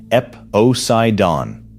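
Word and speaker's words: Eposeidon: And then there is the bottom of the wall, KastKing SuperPower from a company called Epocaidon, pronounced Epocaidon, formed in 2014, imported no fiber brand named anywhere on the spool.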